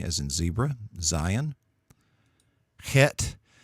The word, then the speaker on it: Het: Het, you have sort of a guttural sound to it like Bach, and so a little sound there in the back of your throat, Het.